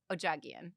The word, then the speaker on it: Odjaghian: I'm I'm probably going to butcher this too, but Tina Ojagian.